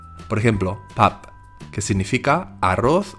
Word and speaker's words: 밥: En caso de empezar o acabar así se pronunciará como P, pero en medio se pronuncia como la D. Por ejemplo, pap, que significa arroz o comida.